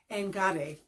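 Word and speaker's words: enkare: Anyway, engare. So it's not a sharp K sound. It sounds more like a G, but it is spelled E-N-K-A-R-E, engare.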